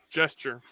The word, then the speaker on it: gesture: Can you really pronounce them the same? No. Yeah. Jester and gesture. Ch. They are different. It's Yeah. t and a ch.